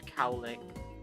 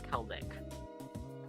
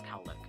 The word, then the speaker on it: Calik: I'm going to keep the two little the cowick thing. Is it cowick or cow lake? I think it's Kelik. It's spelled Calik, but you pronounce Kelik.